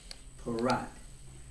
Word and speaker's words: Parrott: We in America, my father, pronounce it as Parrott. But back before great-grandfather, it was Perot.